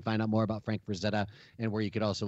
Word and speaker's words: Frazetta: out more about Frank Frazetta and where you could also look into this new book more besides the Vanguard website I think the most common mispronunciation of his name is Franz Etta you know I get